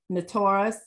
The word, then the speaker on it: Notos: The south wind, Notos, N-O-T-O-S, N-O-T-O-S, more like the wet storm, bringing wind in the late midsummer, early autumn.